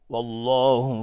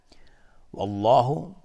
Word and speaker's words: والله: والله، لفظ جلاله اینجا تفخیم هست، غلیظ تلفظ میشه چون قبلش فتحه اومده.